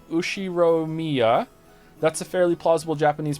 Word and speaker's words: Ushiromiya: The first part is my family name, Ushiromiya. That's a fairly plausible Japanese pronunciation so far. Thank you. I try. Since the Ushiro... I can't say this. Ushiromiya.